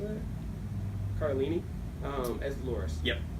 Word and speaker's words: Cardellini: Cardellini as Dolores. Yep. Cardellini.